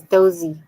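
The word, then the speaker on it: doze: Sarah did 12 cows 12 is dozy in Portuguese the pronunciation of 12 in Portuguese is dozy so so we go dozikao Curry it's not those cow like in English but it's pretty close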